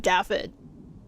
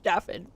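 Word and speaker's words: Dafydd: No, I think they pronounced it Daffod. Like, I'm really sure, like, it was pronounced Daffod.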